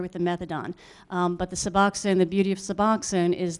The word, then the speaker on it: Suboxone: I'll spell it. S-U-B... Suboxone?